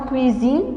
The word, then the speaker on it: cuisine: Le S entre deux voyelles se prononce Z.